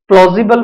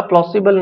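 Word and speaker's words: plausible: This seems, देखिए प्लॉजिबल pronunciation है इसका, प्लॉसिबल नहीं करोगे, प्लॉसिबल नहीं है, प्लॉजिबल, और प्लॉजिबल का मतलब होता है विश्वसनीय।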